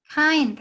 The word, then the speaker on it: kind: Kind. Excellent. Kind. Suena como una A. Kind.